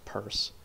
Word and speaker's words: Peirce: um charles s pierce purse um pierce purse pierce arrow and then charles says purse p-e-i-r-c-e and then p-i-e-r-c-e that's also something that